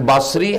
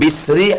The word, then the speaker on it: Basri: Sama dengan Basri, Hasan Basri, Hasan Bisri, Hasan Busri. Bas, bis, bus. Ketiga-tiganya benar.